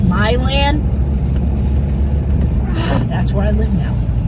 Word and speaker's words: Milan: upstate new york so it's probably pronounced my land that's where i live